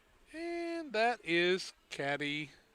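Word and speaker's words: Cadie: And that is Caddy Berry, or Katie Berry, I think they would say. Probably Katie, yeah.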